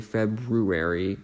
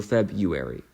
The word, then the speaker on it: February: you why why is there that extra R we don't say February or maybe or at least I don't maybe people do um but I was sort of doing a petition for to be spelled without that without the r without that first R so febuary um next